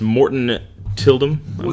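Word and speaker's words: Morten Tyldum: the right for the director we hadn't its Morton Tilden that's how you pronounce his name no region so but that's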